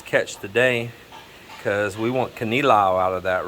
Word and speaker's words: kinilaw: And Melinda bought his catch today because we want kinilaw out of that, right, baby? Yes, kinilaw.